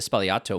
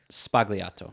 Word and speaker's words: Sbagliato: Americans like, okay, would pronounce it Sbagliato. Sbagliato. There's a G in it, but the Italians don't pronounce that.